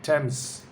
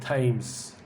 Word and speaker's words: Thames: All right, number 5, Thames, not Thames. Thames.